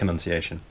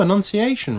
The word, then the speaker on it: Annunciation: this whoa and then am I saying it wrong I'm saying it wrong no no no no Annunciation right the Annunciation the announcement